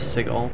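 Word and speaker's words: Sigil: these factions in this city the city of siegel that here we are and yeah it's it's i don't know why it's pronounced cigal but it is but this is a a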